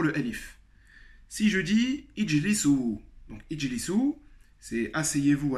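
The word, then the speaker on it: اجلسوا: Donc encore un exemple d'un alif qui s'écrit mais ne se prononce pas.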